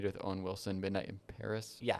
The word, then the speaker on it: Paris: Me neither outside of that one movie here with Owen Wilson, Midnight in Paris. Yeah. Um, it's pronounced Pare.